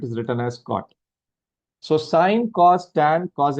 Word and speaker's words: sine: the first one is sine. This function is pronounced as s right in short it is written as s i n. So don't read it as don't pronounce it as sin.